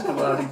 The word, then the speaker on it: Kabaddi: It's Kabaddi, mate. Kabaddi.